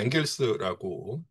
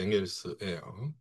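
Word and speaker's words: Engels: 보통 우리가 앵겔스라고 예 읽습니다. 네. 영어식 발음이 앵겔스고요. 독일어식 발음이 이제 앵글스예요.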